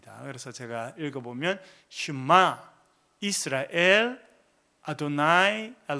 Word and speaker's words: 아도나이: 그렇게 돼 있고요 그다음에 글자네 개가 있는데에 요거를 아도나이 아고 읽습니다 사실은요 단어의 정확한 발음은 알지 못합니다 왜냐면요네 단어가 하나님의 이름을 가르치는